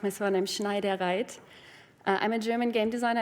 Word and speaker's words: Schneidereit: You pronounce my surname Schneidereit.